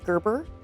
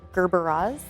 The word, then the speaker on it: gerbera: People constantly mispronounce them as Gerber. They're Gerberas.